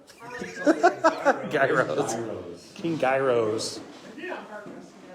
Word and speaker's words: Gyros: It's YEE and then road, like Euro.